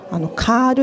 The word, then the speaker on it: CURL: この CURL っていうのがカールって読むんですね。